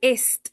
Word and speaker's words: est: est se pronuncia tal cual est, con la T final.